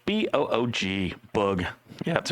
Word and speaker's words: Boog: Spelled B-O-O-G, Boog.